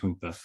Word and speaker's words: junta: I mean, Benjamin Franklin with his junta back in, or they called it junta, but it's pronounced junta in reality.